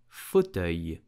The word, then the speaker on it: fauteuil: So in French we will say fauteuil. Fauteuil. Here the second syllable is what is complicated. So pronounce it œil.